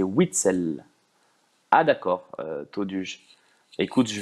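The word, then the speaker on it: Witsel: La prononciation de Witzel, c'est Witzel.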